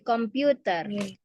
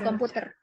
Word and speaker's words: computer: computer game right now computer ya karena ada huruf u kan dibacanya you kayak I love you jadi computer computer bukan komputer jadi ini bacanya gitu